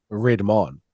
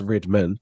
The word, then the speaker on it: Redman: So funny enough, I call him Redmon, but it's pronounced Redman.